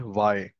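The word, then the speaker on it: VAAI: to a functionality called y you pronounce it like a letter Y okay so when I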